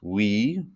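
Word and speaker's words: oui: you have goodbye then we have yes we now this one is tricky because it's spelled o u i but it's pronounced we then our next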